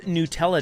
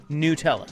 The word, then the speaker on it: Nutella: It is also World Nutella Day.